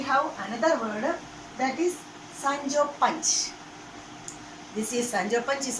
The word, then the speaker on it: Sancho Panza: Its spelling and pronunciation also different. Okay, Sancho Panch. The spelling is Sanchopanzed. Sanchopanzed, and you may pronounce it Sancho Panza. It is wrong. Sancho Panza is wrong.